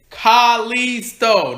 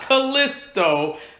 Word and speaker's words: Kalisto: way just just annoying to hear his name pronounced incorrectly every Monday night it's Carly so not Callisto Callisto I will say one thing we show